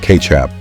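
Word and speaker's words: kecap: It was originally a fermented fish sauce from Southeast Asia known as kcap, pronounced kchap, which was used as a seasoning.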